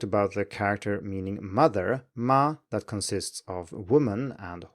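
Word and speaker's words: 马: a different tone so horse is ma with a third tone and mother is ma with a first tone and assuming that you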